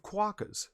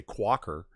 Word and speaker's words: quokka: You can't say quacker. It's actually written quokka. Are you saying cracker in Australian? I don't know what's I happening know. right now. No, look it up, Jack. It's called quokka. It's spelled just like you think.